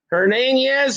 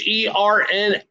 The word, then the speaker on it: Hernaiz: Hernandez, I can't pronounce it. It's Hernaiz, under 1.5 total bases.